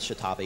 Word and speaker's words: X'tabay: Actually, her name is Chitabe. It's X'TABAY, so X'Tabay, X'Tababy. You can invent your own pronunciation.